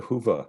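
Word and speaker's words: Hyvä: So just kind of finishing up here, I have to ask about the Hoofa theme. Have you looked at all at the Hoofa, the good Finnish I think theme? it's the Huva.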